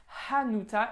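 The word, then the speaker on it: Hanuta: c'est des mutins avec bien le hb qu'on prononce anota et pains uta d'accord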